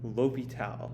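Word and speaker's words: L'Hôpital: we're going to be talking about indeterminants and l'hopital yes that is how we pronounce that word right there it's named after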